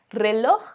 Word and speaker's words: reloj: Então, reloj é uma palavra que tem o J no final da palavra. Você também vai pronunciar da mesma forma.